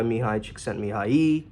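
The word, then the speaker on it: Mihaly Csikszentmihalyi: If you ever heard of the flow by Mihai Csikszentmihalyi. Yeah, that's right. One of the few coaches who can actually pronounce his name.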